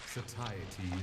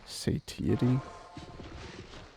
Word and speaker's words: satiety: Shatiety is the goal. Uh I don't think it's isn't pronounced sitty sitty like you satiate your hunger for more satiety.